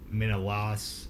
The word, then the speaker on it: Menelaus: And then you got Menelaus, and then you got Helen of Troy.